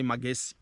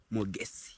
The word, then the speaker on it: Mogesi: I was about to say Magesi. Hey! You know, actually, my name usually, some people usually just pronounce somehow. So it is Mogesi.